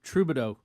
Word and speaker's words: Trudeau: Yeah, well, let's look at Justin Trudeau.